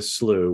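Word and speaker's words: slough: okay I'm going to walk you to the slooh which for those who don't know that's s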